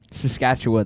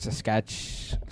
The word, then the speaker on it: Saskatchewan: Saskatchewan. That's how you say it. Saskatchewa. Gosh, not Saskatch.